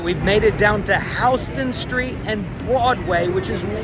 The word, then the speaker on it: Houston: It's not pronounced like the city in Texas. Houston, which is named after Sam Houston, who was the first president of the Republic of Texas.